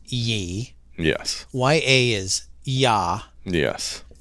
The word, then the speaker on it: Ye: back to the name ye is pronounced Yi yes y-a is yah